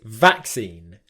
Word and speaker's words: vaccine: Okay, so in standard British pronunciation, we put the stress on the first syllable.